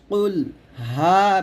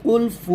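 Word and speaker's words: قُلْ هُوَ: আমরা এখানে অনেকে বলে কুলফু বলি এখানে আমরা হা পেশ হু উচ্চারণ না করে ফা পেশ ফু উচ্চারণ করি তো মানে কুলফু বলি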